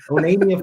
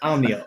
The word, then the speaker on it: Omnia: our customers from Minnesota said onia fishing no no no it's Omnia om m n i hard time pronouncing it